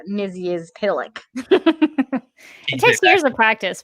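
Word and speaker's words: Mxyzptlk: how you defeat him and it is mr mizus pitilic uh and it looks like travis got that right i love that i can't pronounce like regular words but i can now say mizzy is pillock it takes years of practice but you got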